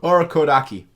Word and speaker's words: Urokodaki: Urokodaki. There you go. Urokodaki. Yeah, I butchered it like 50 times in this episode alone, but you know what?